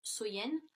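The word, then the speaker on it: Samhain: nuit de l'année donc était samen donc qui est prononcé qui se prononce soyen et donc il croyait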